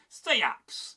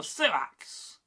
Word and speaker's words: seax: Here, you're more likely to hear seax or suax, a slightly longer vowel, a bit more drawn out.